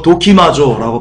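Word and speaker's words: δοκιμάζω: 그리고 이 분변치는요, 도키마조라고 발음하는데요, 뜻은 조사하다, 시험하다입니다.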